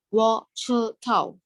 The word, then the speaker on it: 我知道: like not like I need to pronounce this D like softer without like looking like without pronounce it like the T. So this one will be like 我知道我知道 Tao will more like T. So you don't want to do the T sound.